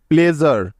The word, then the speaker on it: pleasure: যেমন দেখো, present, PRESENT, present, noisy, NOISY, noisy, easy, ESY, easy, প্লেজার, PLEASURE, প্লেজার।